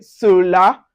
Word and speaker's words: cela: So anyway, you see CE, CI, or CY, you pronounce it as so. An example for them, you can see cela. So you can see it's pronounced with S, soft S.